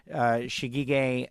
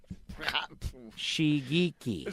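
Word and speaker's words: Shigeaki: Team is owned by former NASCAR NASCAR and open-wheel driver Shigege Hattori. Did I say that right? Shigeki.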